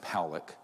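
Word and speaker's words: Pawelec: 600,000 views this man William Pock is pronounced Pock uh was a man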